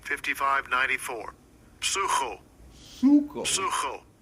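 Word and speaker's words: ψύχω: Suko. Psucho. We say psycho, but it's in the Greek it's pronounced suko.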